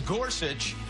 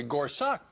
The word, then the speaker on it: Gorsuch: guess he's right then it sounds just like it's spelled if you look at it on the paper yes s uch but then you hear some people say Gorsuch of course just call